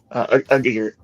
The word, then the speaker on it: Aguirre: how do we pronounce your last name? Aguirre.